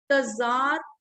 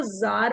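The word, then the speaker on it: Tsar: Russia का राजा था that was तजार Nicholas to. इसको तजार भी कह सकते हैं, इसको जार भी कह सकते हैं, इसको सार भी कह सकते हैं।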